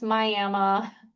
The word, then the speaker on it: Miami: That's how you properly pronounce Myama.